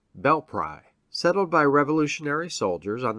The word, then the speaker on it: Belpre: in ohio is belpre short for bell prairie and is now locally pronounced bell pry settled by revolutionary soldiers on the marietta grant in 1789 and 1790.